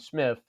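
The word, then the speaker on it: Psmith: And and and people will sometimes say it's this character named Smith that starts with a P. The P is silent.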